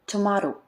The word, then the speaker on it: tomato: Or the word tomato is pronounced tomato in American English but tomorrow in British.